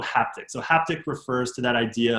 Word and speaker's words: HaptX: sort of like hand-based haptics. One company is called Haptics, like it's spelled, I think just HAPTX or something.